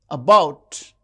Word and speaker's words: about: paper and about about the second syllable is stressed.